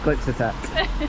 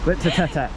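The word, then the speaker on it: Glyptotek: Stop laughing at me, that was how it is pronounced. Glyptotech. Glyptotech.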